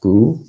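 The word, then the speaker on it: 固: this is another character pronounced gu but it's a different tone when we put the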